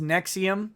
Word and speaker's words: NXIVM: H good Lord Nexium it's pronounced Nexium the heartburn medicine okay I thought it